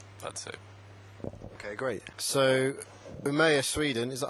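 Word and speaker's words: Umeå: Maybe vicarious Redemption that's it okay great so umaya Sweden is that how you pronounce it it's good close enough for in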